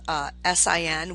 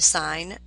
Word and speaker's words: sine: The sine of the angle, called sin, we pronounce it sine, not sin.